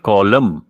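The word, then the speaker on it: column: है इसको कहते हैं कॉलम लिखो सर रो एंड कॉलम हा सी ओ एल यू एम लेकिन साथ में एन बी एस साइलेंट यह साइलेंट है कॉलम एक अब इसमें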